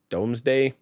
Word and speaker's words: Domesday: app for retro RGB doomsday it's spelled d-o-m-e-s domesday basically and both of these